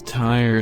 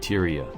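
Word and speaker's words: Tyre: hi robot mia here i mispronounced one of the city's names it is tire not tyria my apologies the more you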